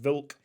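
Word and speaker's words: Wilk: goalkeeper called Alex vilk polish W's should be pronounced vilk uh 77 overall goalkeeper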